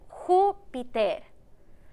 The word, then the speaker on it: Júpiter: Hoy vamos a poner un acento en la letra U. Así. U. Para que el nombre se escuche más fuerte en la U. Júpiter.